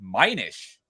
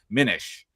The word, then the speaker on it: Minish: While the spelling might suggest a long I sound like minish, it is an archaic word meaning to lessen or diminish, and its pronunciation follows a short I, sounds like minish, like diminish.